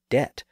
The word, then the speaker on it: debt: the Middle English period it was spelled D and DTE there was no B in it because there was no B in the pronunciation but in the 1400s